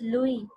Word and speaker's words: Louis: तो बच्चों ने, मैं तो लुइस पढ़ती रही हूँ सारी जिंदगी, लुइस पास्चर। तो प्रोनाउंसिएशन हमारी रॉन्ग होती है, पर आजकल यूट्यूब के ज़माने में हमारी प्रोनाउंसिएशन गलत नहीं होनी चाहिए. बट वन ऑफ the student told me, because she was listening to that German singer or someone, she said, "Ma'am, it's Louis."